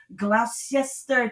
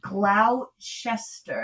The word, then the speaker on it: Gloucester: It's Gloucester, I think. So Glou. Gloucester, is that how you say it? I think it's Gloucester, yeah. But it's Glou.